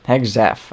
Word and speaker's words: Hegseth: Hegseth.